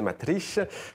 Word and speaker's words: Matrice: votre premier album s'intitule matrice et si on veut bien le prononcer matrich vous serez en concert